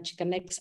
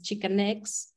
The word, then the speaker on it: Xicanx: And one of the things that we wanted to also tell you about the exhibit is Xicanx. We spell it with an X at the beginning to